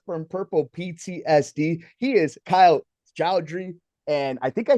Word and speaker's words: Kyle Joudry: He is Kyle Joudry.